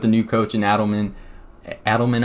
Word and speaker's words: Adelman: Adelman, I believe is how you say his name.